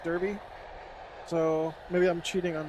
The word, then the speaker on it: Derby: wants me to pronounce darby county i know it's darby even though it looks like derby so maybe i'm cheating